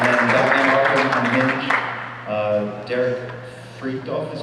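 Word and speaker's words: Derek Fridolfs: Derek Freakdorf is how I pronounce his name, and that is, these are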